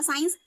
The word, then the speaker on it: science: Next है आपका साइंस, SCIENCE। जब भी एस के बाद सी आया है तो हमें उसका प्रोनाउंसिएशन नहीं करना है।